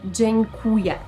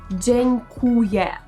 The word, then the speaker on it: dziękuję: przyda często go używamy Dziękuję tutaj chcę tylko zwrócić waszą uwagę na to Jak wymawiamy to słowo dziękuję dziękuję nie Dziękuję tylko dzień jak słowo dzień dobry tak samo dzień kłuje Dziękuję też możemy powiedzieć